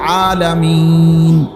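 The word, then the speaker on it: العالمين: শরীফে আছে আলহামদুলিল্লাহি রব্বিল আলামিন এইযে আলামিন এ শব্দটার নুনের মধ্যে জবর তাহলে মূলত হবে আলহামদুলিল্লাহি রব্বিল আলামিনা কিন্তু আপনি মিনা কেন কন না এজন্য যে আপনি নিঃশ্বাস ফেলাইছেন মানে এ শ্বাস ফেলছেন এইজন্য এখন শেষের অক্ষরটার মধ্যে কি বানাইলেন?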